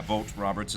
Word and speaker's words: Vogt Roberts: me that's how it's pronounced. Yeah, Vogt Roberts is going to be making a Metal Gear film.